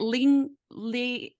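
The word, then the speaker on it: Lyunk: do you say it Ling Lee with the foundation link Foundation okay l-y-u-n-k but it's but it's pronounced link Foundation okay link foundation so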